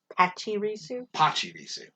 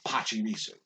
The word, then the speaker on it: Pachirisu: So, I saw that one, and I'm just like, oh, they're calling it Pachirisu, because that's their Japanese pronunciation. That could be an English translation of it, Pachirisu, but I always say Pachirisu because of that.